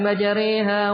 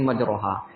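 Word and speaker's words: مجراها: Ya, tapi kalau ditertilkan ya baca qiraah Asim bacanya bismillahi majriha wa mursaha. Nah, itu jangan baca bismillahi majraha. Demikian pula nanti di surah Yusuf ini ada namanya ismam nanti.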